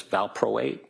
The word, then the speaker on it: valproate: Valproic acid, VALPROIC acid, also known as valproate, VALPROATE.